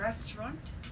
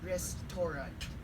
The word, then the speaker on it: restaurant: pronunciation we see a restaurant rather than saying wrists Torah we see a restaurant now when it